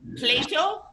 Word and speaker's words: plato: Plato, not the philosopher, but plato. Plato. That was very good pronunciation.